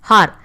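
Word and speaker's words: hour: In dash har. I am not pronouncing the letter H here. So H here is a silent letter.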